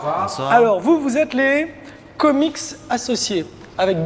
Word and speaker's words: Komiks: Alors vous êtes les comics associés avec 2 K. Avec 2 K, ouais. Et- Mais en fait, le S à la fin, il est toujours facultatif, mais tout le monde le prononce en fait.